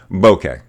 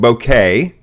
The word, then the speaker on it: bokeh: do you pronounce it I pronounce it bokeh Accent on both syllables Bo que bokeh bokeh it is not bouquet I know that that's